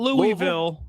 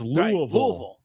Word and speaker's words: Louisville: So it's like Louisville. It's not Louisville. It's Louisville. Right. Louisville. It's 1 syllable.